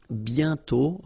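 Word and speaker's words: bientôt: Remember, you put this accent flex but you don't write it. You sorry, you write it but you don't pronounce it. And then the final T is not pronounced BTO.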